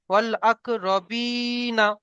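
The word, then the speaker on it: والأقربين: ওয়াল আকরা রবি, নুন যাবার না, অল আকরাবি না, বি টান দেবেন, ওয়াল আক রবিনা।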